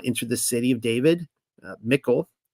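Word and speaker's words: Michal: the city of David michl and hopefully pronouncing her right it's kind of like the feminine of of Michael uh Mikel the daughter of sha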